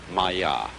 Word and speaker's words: Maya: this kind of thing is the Sanskrit term Maya I'm gonna write that down for you pronounced Maya and this word comes from a root in